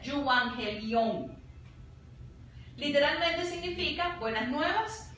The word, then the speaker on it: euangelion: La palabra griega viene de evangelión y se pronuncia euangelion.